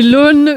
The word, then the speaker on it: aune: C'est l'aune des drapiers.